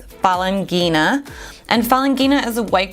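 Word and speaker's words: Falanghina: So if you want to pronounce it, it's Falangina.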